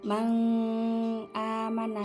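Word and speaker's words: مَنْ آمَنَ: Jadi cara bacanya itu gini. Cara bacanya tuh jelas, tidak usah didengungkan. Man amana. Nunnya itu dijelaskan, dinampakkan, tidak usah didengungkan. Tidak usah man amana, tidak usah gitu.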